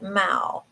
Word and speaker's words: Mao: Says, "I'm cat sitting my neighbor's Lorianne Sue's cat, Mao." Rhymes with pow pow. Mao.